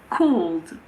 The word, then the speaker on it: called: If the past form of a verb ends in ed, we normally don't pronounce the letter E. Called.